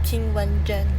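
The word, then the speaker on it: Zheng Qinwen: Hello, my name is King Wan Zhen. King Wang Zhen. King Wan Zhen. King Wan Zhen, she says. Oh, I lost the rankings. That wasn't good. WTA, when I clicked King Wan Zhen, it didn't take me to a new tab.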